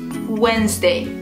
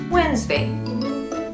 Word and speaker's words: Wednesday: In Wednesday, the D is silent. So just don't say it at all. Practice with me. Wednesday. Wednesday.